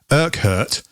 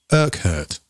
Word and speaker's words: Urquhart: But there was a guy called John Urquhart. That is how you pronounce it. I found out. Urquhart. Urquhart.